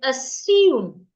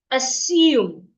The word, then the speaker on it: assume: I said assume. Take note of that pronunciation. Assume. The S remains the S. Don't change it to a Z.